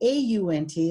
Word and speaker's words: aunt: 2 different spellings, and some of you pronounce the A-U-N-T as aunt, but this class is a national news broadcast, and it is generated that they're both pronounced the same way according to national news.